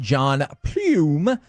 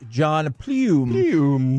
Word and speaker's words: Pluym: And by the way, Corey, you judged me with the way I said John Plume. It's spelled Pluym.